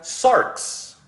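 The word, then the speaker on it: σάρξ: o todo su ser hay una palabra en griego que se pronuncia sarks a veces la palabra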